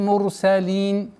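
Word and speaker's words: المرسلين: Ра твердо произносится, так как впереди стоит дамма.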